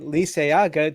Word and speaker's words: Liceaga: Brian Lisayaga joins us today.